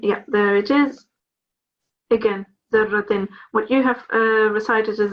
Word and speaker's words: ذرة: Emphasize on your ra. Okay. Don't forget the fatah here. Okay. Try again. فمن يعمل مثقال ذرة خيرا يره.